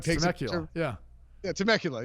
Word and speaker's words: Temecula: meet me in the Timucua and the guy drives two guys there Christmas day to like any like take suck you yeah yeah Temecula yeah that's it I can't even pronounce it right I don't know that